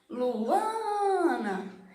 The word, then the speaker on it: Luana: Luana. Então percebe que quando eu estou chamando Luana, a sílaba mais forte é o A, Ana. Então a sílaba tônica do meu nome é o A.